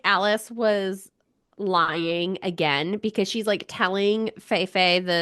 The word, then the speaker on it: Alis: But Alice, Alise, Alice, I think it's Alice. There's a pronunciation guide in the back of the book. Did you see that? Oh, and it's just normal Alice. It's just spelled funny.